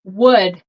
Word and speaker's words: would: pronounce these words so this one is wood the L we do not pronounce it so wood kind of like you know like wood like w o d it's pronounced the